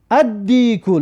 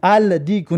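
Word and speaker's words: الديك: ادیکو لام ببین تلفظ نکردیم و الف در دال شدت دادیم و الف در دال همراه کردیم. ادیکو، الدیکو نه، ادیکو، ادیکو یعنی که خروزی معین.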